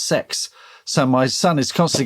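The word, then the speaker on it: CeX: games and it's uh it's spelled c e x but pronounced sex so my son is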